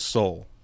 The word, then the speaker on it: Soule: uh by the way Charles Soul that's how you say it okay uh because his production company his personal is called Silent E Productions okay okay so